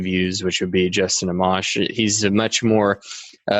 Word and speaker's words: Amash: Speaking about the next president making these decisions, Justin Amash. Am I pronouncing his name correctly? I am, right? Justin Amash or Justin Amash?